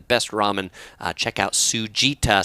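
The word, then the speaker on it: Tsujita: ramen place that we really like it's called sugita so if you're going to los angeles particularly near santa monica and you want to check out some of the best ramen uh check out sujita spelled like that t-s-u-j-i-t-a it's in a part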